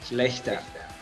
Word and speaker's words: Schlachter: Dirk, I hope I pronounce it right. Dirk Schlachter? It's Dirk Schlachter.